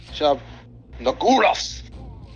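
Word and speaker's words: Shub-Niggurath: Now, with that, it's Shub Niguroth. That's how it's supposed to be pronounced. You're supposed to put guttural sound into it.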